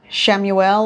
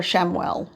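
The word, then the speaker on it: Chamuel: Shamuel or Shamwell, whichever way you'd like to pronounce it.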